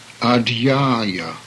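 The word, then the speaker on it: adhyāya: ah charge yo teacher the next word has an aspirated D following by a whi which most people have difficulty in pronouncing thus the Atman the supreme self ah di a-- a chapter of a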